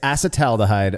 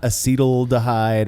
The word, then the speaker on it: acetaldehyde: I mean, I've heard it's acetaldehyde, of course, and not acetaldehyde or acetaldehyde. My understanding, at least, is that it's acetaldehyde.